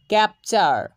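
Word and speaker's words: capture: ক্যাপচার, ক্যাপচার।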